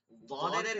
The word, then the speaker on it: ضاد: ضادের ক্ষেত্রে খেয়াল করব ضاد হচ্ছে দুই দিকের জিহ্বার কিনারা এই কিনারা এবং এই উপরের যেগুলো মারি দাঁত আছে যেগুলো অর্থাৎ পাঁচটা মারি দাঁত আছে এক এক সাইডে এই মারি দাঁতগুলো আরবিতে এগুলোকে বলে আদরাস আর উপরের গুলোকে উলিয়া বলে আদরাসে উলিয়া মানে এই দাঁতগুলোর গোড়ায় লাগতে হবে ঠিক আছে এই দাঁতগুলোর গোড়ায় লাগতে হবে লেগে এটা মোটা উচ্চারণ করতে হবে জওয়াদ না কোনোভাবে জওয়াদ না ঠিক আছে ফিকাহ কিতাবে